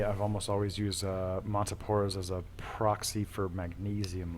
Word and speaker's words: Montipora: with a substantial population of monoporos or as you say it very so eloquently montipora's that's the scientific pronunciation for those of you that are uninitiated um yeah usually from